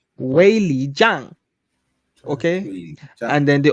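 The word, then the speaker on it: Weili Zhang: Anyways, my girls, Wei Jiang. That's how you pronounce the name. Wei Jiang.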